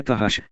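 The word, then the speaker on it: תחש: como peles de texugos, em hebraico é tahash, plural, tahashim, ou tashash, plural, tshim, e pronunciada como takash segundo a concordância Lexicon Strong, provavelmente é originada do egípcio ths, couro, e do árabe turrazum, delfim.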